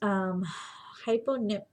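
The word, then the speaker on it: hypopnea: Hyponipnia, if you noticed, hyponia, sorry. The second P is silent.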